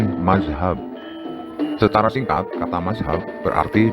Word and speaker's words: mazhab: Pengucapan Arabnya berbunyi madhabun, tetapi orang Indonesia mengucapkannya dengan bunyi mazhab.